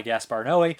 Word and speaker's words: Gaspar Noé: Now let me know, guys, I've always heard it pronounced Gaspar Noé. Some people say Gaspar No. I would say Gaspar Noé, but that's me.